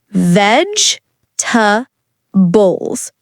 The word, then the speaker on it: vegetables: Vegetables. Say it in three parts. Veg tables. Short and smooth.